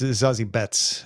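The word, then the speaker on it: Zazie Beetz: uh Dr Calhoun is pointing out that it's zazi bets uh my my mispronunciation I apologize uh thank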